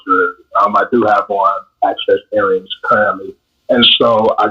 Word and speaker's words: AXCEXX: Yes, so it's pronounced Access, and it is a men's but unisex accessories line.